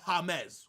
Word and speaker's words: James: uh James Rodriguez and people say that I say his name wrong like I'm American like J mes is James but people call him jamez whatever hold on we're